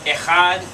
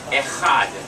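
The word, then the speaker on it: אחד: what's masculine for one echad the back of the throat you get a sound there right let's try it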